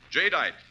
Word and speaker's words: Jadeite: Remember the name Jite. That's spelled J A D E I T E. Jite.